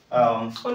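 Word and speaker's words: honest: মুখ কইলি কোন কইছিলি আগে ওয়ার্ড কই থিলি অনেস্ট অনেস্ট এথিরে ও তিথি কি নাই যদি মু দেই থাতি অপূর্ব তিথিলে সাইলেন্ট রইতে বেন হইতে থা সামটাইমস এতি লগাইলা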